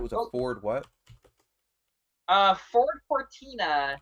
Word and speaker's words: Cortina: It is spelled exactly how it's said. I have zero phonics skills. I cannot say a word and convert it into letters. Core, so COR, Tina, TINA.